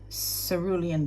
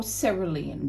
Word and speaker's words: Cerulean: And Cerulean Blue, or Cerulean Blue. Cerulean stands to me like Sara Lee.